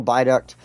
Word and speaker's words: viaduct: And it sounds like a B, but it's spelt with a V. Like V as in victory, but you sound it out with like almost a B, like a B as in bee, as buzz type of sound.